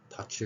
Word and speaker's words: touch: 자, 원래는 사용되지 않았던 발음일 수 있겠죠. O가 들어가 있습니다. 그래서 touch 같은 경우는 touch, TO, 이게 글자에 들어있다는 거 함께 기억하시면 되겠습니다.